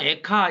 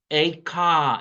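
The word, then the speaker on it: איכה: 베들교회에 오셔서 강의하고 가셨는데 어이 발음이 우리는 그냥 에카 이런 정도로 알았는데 그 히브리어 전공하신 그 송박사 얘기로는 에이카 이렇답니다.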